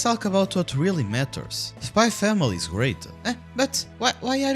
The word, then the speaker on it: Spy x Family: enemy ever made well spy x family oh sorry sorry sorry spy family spy family i didn't pronounce the ex i swear i'm obviously